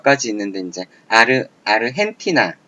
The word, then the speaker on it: 아르헨티나: 자, 이런 걸로 몇 가지 있는데 이제 아르헨티나, 자, 영어 보시면 아르젠티나예요. 하지만 이거는 멕시코 쪽, 스페인 쪽 발음에서 아르헨티나 이런 식으로 발음한다는 거죠.